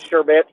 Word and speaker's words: sherbet: about a sherbert beer he of course said sherbet um i've always pronounced it sherbert my whole life and so that's the